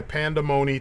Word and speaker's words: Pandamony: And yeah, that was our look at Sabotage from Alternation by Pandamony Toys, and it's spelled Panda and then money, right?